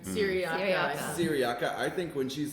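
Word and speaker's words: Cyriaca: Well, I think when Just got to Sarika, is that how you say her name? Syriaca.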